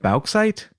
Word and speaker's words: bauxite: Bauxite? How would you pronounce that, Agent Ether?